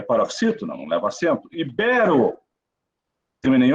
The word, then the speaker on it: ibero: É rúbrica ou rubrica? Ibero ou íbero? Essas palavras sempre caem nas provas, principalmente da nossa aqui, da FAPEC. Então, eu fiz questão de colocar quando estava preparando essa aula. Rubrica, ibero.